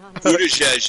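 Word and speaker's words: Buttigieg: Booty age. Buddhajes is how you pronounce it.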